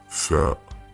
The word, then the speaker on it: ثاء: حرف اليوم هو حرف الثاء، وهو يماثل حرف TH الإنجليزي، وينطق ثاء ثاء ثاء ثاء ثاء ثاء ثاء.